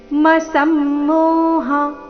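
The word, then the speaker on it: ಅಸಮ್ಮೋಹಃ: ಕ್ಷಮ ಕ್ಷ ಅಕ್ಷರ ಬಂದಿದೆ ವಿಸರ್ಗದ ನಂತರ ಕ್ಷ ಬಂದ್ರೆ ವಿಸರ್ಗದ ಉಚ್ಚಾರಣೆ ಹ ರೀತಿ ಆಗಬೇಕು ಅಂತ ನಿಯಮ ಇದೆ ಇದೆ ಅದಕ್ಕಾಗಿ ನೀವು ಇಲ್ಲಿ ಬುದ್ಧಿರ್ ಜ್ಞಾನಮ ಸಮ್ಮೋಹ ಕ್ಷಮ ಈ ರೀತಿ ಶ್ವಾಸ ಬಿಟ್ಟು ಹ ರೀತಿ ಉಚ್ಚಾರಣೆ ಮಾಡಬೇಕು ಅಥವಾ ಬುದ್ಧಿರ್ ಜ್ಞಾನಮ ಸಮ್ಮೋಹ ಈ ರೀತಿ ಹೇಳಿದ್ರು ಪರವಾಗಿಲ್ಲ ಎರಡುನು ಸರಿಯಾಗಿದೆ ಮುಂದೆ ನೋಡೋಣ ಎರಡನೇ ಚರಣ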